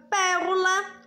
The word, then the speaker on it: pérola: Como a palavra pérola, o pé é mais forte.